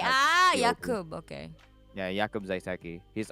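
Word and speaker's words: Jakub: yakob j a k u b ah it's pronounced yakob though yakob ah what what's this nationality this first yeah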